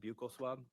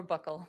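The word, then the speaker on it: buccal: Who took the uh you call pronounce it bugle swab or or buckle? Okay. Either way is fine.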